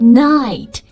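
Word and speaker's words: knight: E K 不发音、嗯、，night 骑士，K N I G H T K 也不发音。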